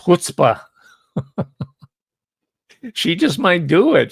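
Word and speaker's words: chutzpah: If she does, that would be the ultimate and what Yiddish is pronounced hutzbah.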